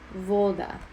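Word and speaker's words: woda: volda which is water you would say voda would be the proper way because you're putting the emphasis on the second to last syllable which happens to be the first one in this case um if you had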